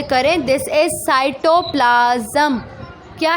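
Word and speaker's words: cytoplasm: साइटोप्लाज्म, पहले तो आप इसको ज़रा प्रोनाउंसिएट सही तरीके से करें। This is साइटोप्लाज्म।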